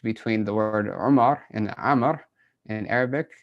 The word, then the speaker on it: Amr: In order to distinguish between the word Umar and Amr in Arabic, the Arabs added a wow after the ra of Amr. Right, so the wow, it means nothing. You're not going to pronounce it at all.